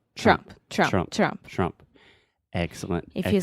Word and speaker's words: Trump: Yeah, and when you keep saying it faster and faster, that middle sound just disappears, and you can say Trump. Trump, Trump, Trump.